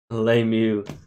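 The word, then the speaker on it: LeMahieu: Lemieux. I feel like there's three letters silent in that name. That's what I went with. Three silent letters.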